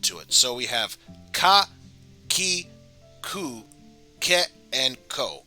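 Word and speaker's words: か: You pronounce this ka.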